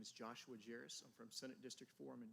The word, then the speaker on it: Jaros: you're gonna have to tell us how to pronounce that Josh good afternoon committee my name is Joshua jarus from Senate District forum and delegate here at